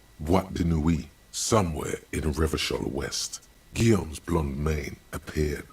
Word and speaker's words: Revachol: For Revachol, yours, if it doesn't rhyme, you're not pronouncing it right. Out of the dazzling swirl of disco music, in an open air, Boîte de Nuit, somewhere in Revachol West, Guillaume's blonde mane appeared on the screen.